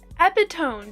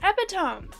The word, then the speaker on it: epitome: Because that looks like it should be pronounced epitone, doesn't it? I feel like I was pronouncing it the right way. But I was corrected. Yes, it looks like it should be pronounced epitome.